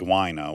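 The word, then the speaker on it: Wyna: We know that that's actually how her name is pronounced, Wina.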